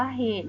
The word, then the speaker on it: เหตุ: เรา จะ อ่าน ว่า เหตุ นะ คะ สังเกต ว่า จะ มี สระ อุ อยู่ ข้าง ล่าง ตอเต่า ใช่ ไหม คะ อยู่ ใต้ ตอ. เต่า แต่ เรา จะ ไม่ อ่าน ออก เสียง สระ อุ ดัง นั้น คำ นี้